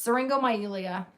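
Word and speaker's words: syringomyelia: It's seringo myelia. Seringo myelia. Yeah. Don't ask me to spell it because I can only like write it down.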